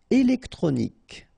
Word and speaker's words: électronique: Électronique. Okay, so as we saw previously, Q-U-E at the end, K.